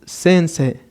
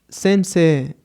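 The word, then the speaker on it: 先生: de acá, teniendo en este caso profesor como sensei. Vamos a escucharlo nuevamente. Gakusei, estudiante, y sensei, profesor.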